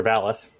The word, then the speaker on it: Valis: Reen, Mr. Valis, rhyming with phallus, walks out into the common room where he sees no one.